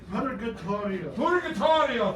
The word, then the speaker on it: Purgatorio: Purgatorio, thank you. I couldn't see the red of it. Purgatorio.